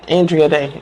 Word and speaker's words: Andra Day: Andre O'Day? Yeah, Andre Day. Andra Day.